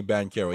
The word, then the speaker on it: Banchero: It's spelled Banchero, but they say Banchero.